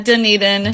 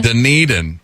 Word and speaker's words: Dunedin: Well, I'm glad you pronounced it, because I was like, I'm going to butcher this name. Yeah, Dunedin. Dunedin.